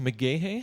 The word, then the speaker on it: McGaha: is mr how do you pronounce your last name exactly pronounced mcgahey mcgahey so i noticed that